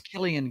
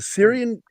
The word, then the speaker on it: Cillian: It's Killian, guys. Is it Syrian? Killian. I think it's Syrian. Is it Syrian or Killian? It's no. Killian. It's Killian. pronounced Killian.